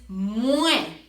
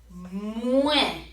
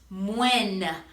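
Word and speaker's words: mwen: Take note that we are saying moi, and it is not moine. A lot of people that are just learning Haitian Creole, they'll see this and they'll pronounce the N, but in Haitian Creole, this EN is a letter in and of itself, and that EN makes the eh sound.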